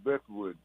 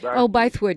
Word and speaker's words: Bythewood: Jada Bethwood, I should always pronounce her name correctly. Gina Baithwood. Bythewood, yeah.